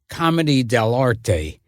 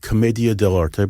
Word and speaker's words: Commedia dell'arte: the Marx Brothers were, however you pronounce it, Comedy dell'arte. I pronounce it Commedia dell'arte, but that's good. Yeah. I know. You may be right and I may be wrong. No, I have no idea. I think it's Commedia dell'arte.